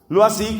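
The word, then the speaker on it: Loisy: o iese y y se pronuncia algo así lo así que por supuesto era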